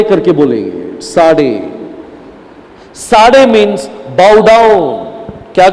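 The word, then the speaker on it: צדי: तो देखो, ये इसको बोलते हैं, ये अल्फाबेट को प्रोनाउंस करने के समय इसे साडे करके बोलेंगे। साडे, साडे मीन्स बाउ डाउन, क्या करना है?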